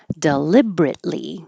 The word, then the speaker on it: deliberately: really good swill swell deliberately we don't say the middle eer here deliberately get rid of this e right there and then you have the bur together deliberately and you hold the t and you don't release the air flow T so you just go from the T to the L deliberately deliberately drop the